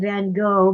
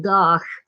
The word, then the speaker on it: van Gogh: night Vincent van gosh I know we call him van Gogh but he pronounced it goth anyway I'll get up